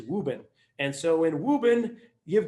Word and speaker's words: Woburn: i grew up and the way we pronounce woburn is wuben and so in wuben